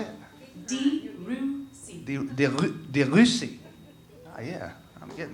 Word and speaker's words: Debussy: Debussy.